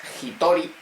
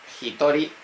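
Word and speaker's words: 一人: Se escribe con el kanji del uno más este kanji o del dos, pero su lectura es especial. Este es Hitori. Hitori. Y dos personas es Futari.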